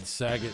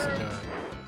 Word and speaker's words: Sagat: I always said Saget until I heard the game pronounce it Sagat, and then I was like, okay, I guess it's Sagat. Like Bob Saget, you know? But it's not.